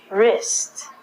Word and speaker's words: wrist: rest of your arm so the W again is silent okay moving right along